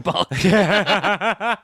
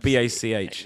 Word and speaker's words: Bach: Yeah, it's like BACH. Yeah. So, Bach. Bach. Bach.